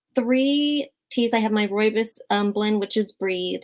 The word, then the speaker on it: rooibos: have to try that yum okay so your roy bu help me pronounce that roy this rooibos thank you roy miss tea blend um is